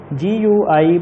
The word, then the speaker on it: GUI: GUI, pronounced GUI, stands for, answer is Graphical User Interface.